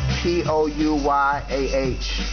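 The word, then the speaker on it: Pouyah: The music that you hear in the background, it's from a very talented brother by the name of P-O-U-Y-A-H. I think it's pronounced Pouya.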